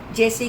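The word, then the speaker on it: juice: इन द J-U-I-C-E, यू के बाद आई vowel आ गया और सी के बाद ई, स. ज-ऊ-स, जूस, जो हम फ्रूट से निकालते हैं.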